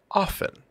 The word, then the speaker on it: often: But, for example, you will find that the T is overpronounced in words like often. Most often, we will say often. But in the mid-Atlantic, transatlantic accent, that T is very strong.